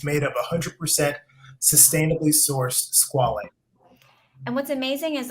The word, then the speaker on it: squalane: Squalane.